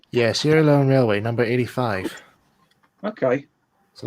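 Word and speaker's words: Sierra Leone: loan Railway a hunslet okay sier Leon Sorry Sierra Leon is that how it's pronounced yeah Sierra Leon Railway number 85 okay so that was the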